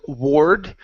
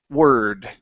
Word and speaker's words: word: word actually okay so instead of Ward with an o r this uh this word is pronounced with an erer sound the word is word word okay one more time